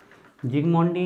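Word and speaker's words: Zsigmondy: तो S silent है यहाँ पर।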